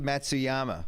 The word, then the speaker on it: Matsuyama: look like John Dy and then uh hii Matsuyama I got that one right you did you